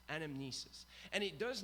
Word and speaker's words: anamnesis: interesting is that the Greek word here we're pronouncing it correctly anamnesis anamnesis and it does not meet in memory of